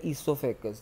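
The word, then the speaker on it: oesophagus: Food pipe का scientific name है ईसोफेगस, जिसमें ओ साइलेंट होता है।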